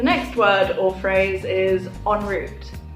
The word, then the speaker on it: en route: word or phrase is enroute this is originally a French word and that's why it's spelt a little bit differently you have pronounce slightly differently and this just simply